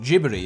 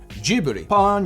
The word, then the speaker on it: Ghibli: So Google tells me it is pronounced Ghibli. Also, it's how Miyazaki pronounces it, and I trust Miyazaki. I trust him. Repeat after me. Ghibli.